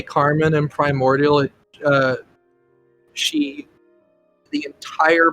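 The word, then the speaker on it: Kar Man: It is spelled Kar spacebar MAN. I just say the name Carmen.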